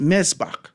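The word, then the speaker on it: מזבח: It's pronounced mezbach. They say it with a little in the back, the rasp. Mezbach, right?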